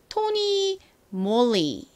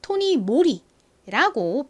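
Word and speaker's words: TONYMOLY: Y의 이 소리가 나서 토니, 몰리 이렇게 원래 발음이 되는데 여기 이 MOLY가 영어가 아니라 일본어에서 따온 말이라고 합니다. 그래서 이 브랜드는 토니 몰리라고 표기하지 않고 이렇게 토니 모리라고 표기합니다.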